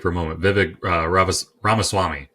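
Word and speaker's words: Ramaswamy: a moment Vivic raas ramaswami I think is how you say his last name uh and he talked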